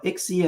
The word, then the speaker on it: ICSI: So, you know, Ixie is is the way we refer to it. It's spelled ICSI.